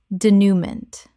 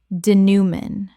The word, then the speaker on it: denouement: Denouement. Correct pronunciation. Denouement. 3 syllables with a nasal final syllable inherited from French.